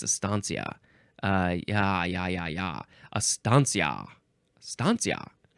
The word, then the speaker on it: estancia: H uh next is Estancia Estancia or is it Estancia I think it's aania uh yeah yeah aania